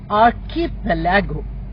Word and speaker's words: archipelago: of islands, it's called archipelago. Archipelago might be a new word for you, where the stress is on pal, that is the syllable in the middle of the word.